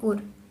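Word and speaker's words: Ur: सी उर ठीक है इसे प्रोनाउंस करते हैं उर उर बोलते हैं सो इसके नाम से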